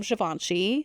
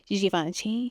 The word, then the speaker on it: Givenchy: This is the new holiday collection from Givenchy. My Givenchy pronunciation is usually not good, but that one in particular was really not good. Givenchy.